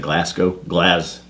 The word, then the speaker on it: Glasgow: I think I said Glasgow. They pronounce it Glas. It's Glasgow. Right.